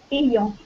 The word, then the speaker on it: ayant: alors, attention, ça se prononce ayant. Ayant. D'accord. En Alors, je ne ayant. sais pas si. Alors, je vais te le mettre phonétiquement. Le Y en français, c'est deux I.